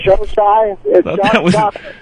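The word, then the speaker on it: Xocai: Showside. Showside. It's spelled X-O-C-A-I.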